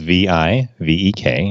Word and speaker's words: Vivek: It's spelled V-I-V-E-K, and the V-I is pronounced like the V-I in Victor, and the V-E-K is pronounced Vake, so it rhymes with lake.